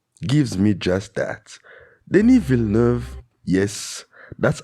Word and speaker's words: Villeneuve: Denis Villeneuve, yes, that's how you pronounce his name, Villeneuve.